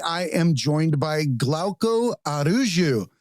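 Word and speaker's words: Araújo: Yes, it's Araujo. Araujo. Okay, I was close. Yes, yeah. I was. I always try to pronounce names correctly.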